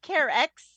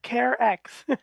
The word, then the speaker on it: Carex: uh so yeah so imagine the word care with an x on the end of it that's right well care X that's right we've also